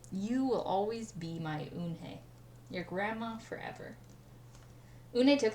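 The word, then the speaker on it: 은혜: Kim and then turned to Joey, and she nodded slowly and said, "Yes, it's pronounced Eunhye. And it means grace," Mr. Kim added. "Eunhye," Joey said, smiling, and this time he said it perfectly, and it made Eunhye smile.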